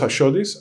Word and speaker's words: Ashiotis: or Ashis? It's Ashis. Ashis spelled with a SIO tis.